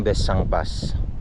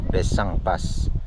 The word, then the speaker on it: Besang Pass: sa Pangasinan Oo yung besang pass actually hindi siya besang pass besang pass ang pronunciation nila Tapos Dito naman ung